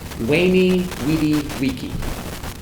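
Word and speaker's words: Veni, vidi, vici: The Romans pronounce their C's hard, so it's Marcia. Okay. Caesar. Okay. And these were W's. Okay. Weni, Widi, Wiki.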